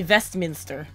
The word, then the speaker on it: Westminster: Westmont it should be vest Minster residence there yeah it should be with a V because the other thing